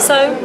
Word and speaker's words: Sohm: We have your beautiful young lady by the name of Sohm. Did I pronounce that right? Yep, Sohm.